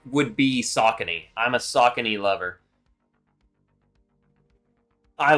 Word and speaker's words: Saucony: I used to say Saucony, but it is pronounced Saucony.